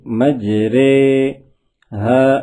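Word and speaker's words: مجریها: کو امالہ کہتے ہیں۔ امالہ کی را کو اردو کے لفظ قطرے کی را کی طرح پڑھیں، یعنی ری نہیں بلکہ رے پڑھیں۔ امالہ کے ہجے اس طرح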